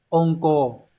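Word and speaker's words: 温厚: Từ này hán tự là chữ ôn, là chữ hậu đúng không? Đọc là ôn cô.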